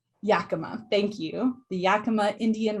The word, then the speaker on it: Yakama: Will you please, did I pronounce that correctly? I also did not. Yakima, thank you.